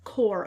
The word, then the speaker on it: Corps: I think someone mentioned in my comment section that I said Corpse of Discovery, and I don't think that's how you pronounce it. I think it is Core of Discovery.